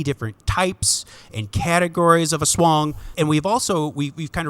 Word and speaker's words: aswang: that's right no just a swan yeah dude you got it there just there just like